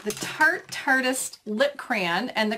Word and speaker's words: Tarte: is the I gotta say it right the tart artist lip crayon and the color is in